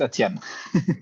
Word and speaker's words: Etienne: Etne, is that right? Maybe pronouncing it wrong. Glad you're here. It's Etienne.